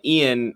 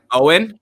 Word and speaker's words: Owen: friend, or my friend Ian, is not a leftist because what is it? How's it pronounced? It's Owen. Owen? Okay, I thought it was Ian.